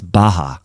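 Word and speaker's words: Bacher: name is franz baha it's spelt b-a-c-h-e-r but it's baja and he was a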